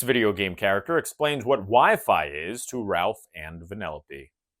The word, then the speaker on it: Wi-Fi: Whiffy? Or wifey? Well, it's either wiffle ball or an arranged marriage game. It's actually pronounced Wi-Fi, Ralph.